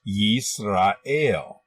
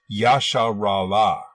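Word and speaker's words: ישראל: In Hebrew, this word is pronounced Yisrael, but they believe that it was originally pronounced Yasharallah.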